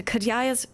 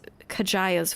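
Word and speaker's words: Kadjaya's: This is going to be so confusing because like in a lot of Ilsard a J is pronounced like a Y, but here it's pronounced like a J.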